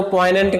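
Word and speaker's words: poignant: चलो फटाफट देखो पोइनेंट क्या है जी, साइलेंट रखना।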